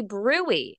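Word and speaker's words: bruit: abdomen you say hey Doc check for a brewery it's spelled brute b rui t check for a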